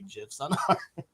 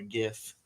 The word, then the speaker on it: GIF: Crystal we cannot see GIFs sorry gifts that's how I pronounce it I always say GIF like the peanut butter but it's gifts I always say gif